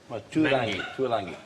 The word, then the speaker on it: Tuilagi: Yeah, Manu Tuilagi. Tuilangi. Well, there's no N in there. If you want to... No, it's the pronunciation of it, actually.